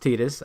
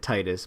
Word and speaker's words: Tidus: It's pronounced Tidus. I don't know why. It looks like it's said Titus, but it's really?